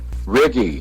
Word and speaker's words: Righ: Righ. Righ. That's it. Righ. Righ. Righ. Yeah, we couldn't. Righ. We had no idea. Anyway. And H's are silent.